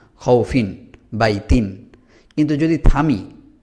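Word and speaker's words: خوف: যদি থেমে যেতে হয়, আমরা যদি না থামি তাহলে এখানে কোনো টান হচ্ছে না, খৌফিন বাই তিন। কিন্তু যদি থামি তখন কিভাবে উচ্চারণ হবে?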